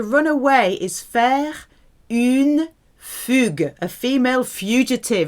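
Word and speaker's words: fuguer: away is fair in Fuger a female fugitive it's where we get the word fugitive from but it's a hard G because of the UE like baguette gue fair you know food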